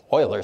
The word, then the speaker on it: Euler: number 2.7 what's it Euler's magic number um Oiler magic number I suppose if we pronounce him correctly but I'm American we